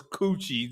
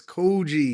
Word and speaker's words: Coogi: of your sweater was Coochie, and that's why I thought you was kidding. No, it's Coogi. Coogi. Coochie is Coochie.